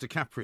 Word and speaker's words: DiCaprio: Actually pronounced DiCaprio.